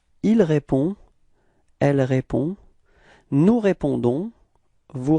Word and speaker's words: répondons: So as usual, final S is not pronounced, okay? So the only thing that is pronounced at the end, it's this O-N, and it's on, okay?